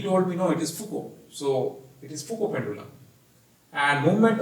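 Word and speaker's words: Foucault: katyar and he told me no it is fuku so it is and movement of winds so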